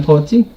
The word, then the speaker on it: Poetzy: Well, yeah, I'm Poetzy. First name, last name. The O is silent in there.